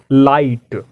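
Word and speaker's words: light: जी H silent है। लाइट, यहाँ जी एच क्या है?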